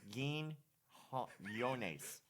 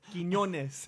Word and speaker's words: Quiñones: Quin Quin I guess it's like quin Quin? And then imagine a Y. Yones. Quin Yones. Quin Yeah. Quin Yones. Quiñones. I feel like you're like